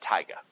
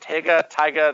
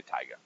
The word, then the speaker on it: taiga: We live in some combination of grassland and taiga. That's how you say this one here. Some people say it taiga. There's different pronunciations. I'm going to say taiga. Almost like tiger, but taiga.